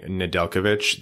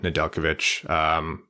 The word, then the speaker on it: Nedeljkovic: A quick note, you'll notice us saying Nedeljkovic. That's just how you pronounce it. I know people get hung up on the J, but good for you to learn that now. Nedeljkovic.